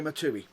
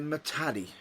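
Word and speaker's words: Muhtadi: Genuinely, Mojo Matui. Is it? Actually, apologies if I butchered that name. Again, another name that we've butchered. Mojo Matadi.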